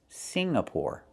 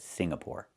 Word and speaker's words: Singapore: It's Singapore. The NG makes a sound M in your nose. Sing. Like when you sing a song together. Singapore. Not Singapore, but Singapore.